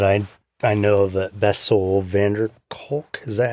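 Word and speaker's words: van der Kolk: i haven't but i i know that bestseller vanderkulk is that how you say his name is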